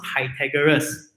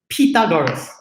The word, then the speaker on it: Pythagoras: It is not pronounced Pythagoras. Properly speaking, it is pronounced as Pythagoras.